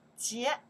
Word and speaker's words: 节: Chinese, how pronounce that here? Yes, 节.